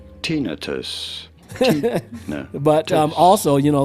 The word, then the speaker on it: tinnitus: do you pronounce tinnitus tinnitus you can say it all you want that's not the correct way to pronounce it tinnitus you don't want to stress on the first syllable the t syllable tinnitus but um also you